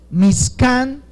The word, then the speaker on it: Mishkan: También se escribe como Mishkan, con K, Mishkan, y esto significa, por supuesto, morada o casa de gloria.